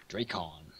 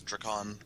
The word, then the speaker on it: Drakon: Dracon. No, it is Drakon.